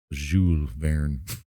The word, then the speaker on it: Jules Verne: Apparently, since the French name, you don't pronounce the S. Jules Verne. Which makes it even worse. So we were both saying it horribly wrong.